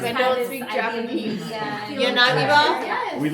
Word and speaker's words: Yanagiba: old west, like Yanagi ba.